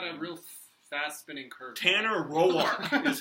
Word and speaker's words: Tanner Roark: Tanner Roark is how you pronounce it.